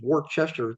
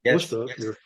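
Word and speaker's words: Worcester: She saw me teach in Massachusetts many years ago and beautiful little town called Wora. You have to I know it looks like it says War Chester, but it's actually Wora.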